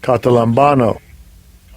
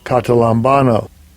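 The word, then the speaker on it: καταλαμβάνω: Let's look up the word comprehended, the pronunciation in the Strong's G. Strong's G 2638, Catalambano. Catalambano.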